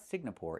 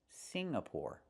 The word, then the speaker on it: Singapore: It's not Singapore. It's Singapore. The NG makes a sound M in your nose. Sing like when you sing a song together. Singapore. Not Singapore, but Singapore.